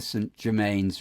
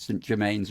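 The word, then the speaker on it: St Germans: And up the St Germains River. Is that how you pronounce it? Rather than St Germain? I think St Germains River.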